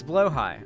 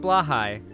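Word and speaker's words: Blåhaj: hi no it's pronounced or below high it's blow High I'm pronouncing it right it's blow high like blow High no not blah High blow High now trust me I looked up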